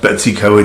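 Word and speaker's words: Betws-y-Coed: Eco it in North Wales it's an actually pronounced Betsy co-ed it's better decoyed but I thought I'd take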